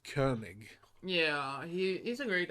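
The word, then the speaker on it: Koenig: yeah i think his last name is it's pronounced kernig yeah he he's a great actor i really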